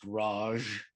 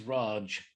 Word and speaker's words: Raj: the british the raj which incidentally is not pronounced raj it's raj and uh they were the uh uh the